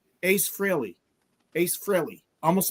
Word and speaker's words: Frehley: He says, "Yeah, people say freely or they say frilly." He says, "I pronounce it frilly." He just says it really fast. Ace Frilly.